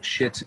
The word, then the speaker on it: Schitt's: it's 60's season this year um it's called shits creek it's hysterical it's about a family it's